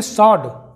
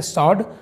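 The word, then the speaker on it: sword: Wrong का मतलब होता है गलत, इसे पढ़ेंगे सॉड। कई लोग इसे स्वॉर्ड पढ़ते हैं। ये W यहाँ पे साइलेंट है, SORD का साउंड आएगा, ना कि W का, तो हम पढ़ेंगे इसे सॉर्ड, जिसका मतलब होता है तलवार।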